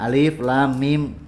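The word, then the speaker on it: الم: Jadi dibacanya alif, lam, mim. Saya sudah kasih tahu ya cara pengucapannya. Nah, dari huruf, setelah tahu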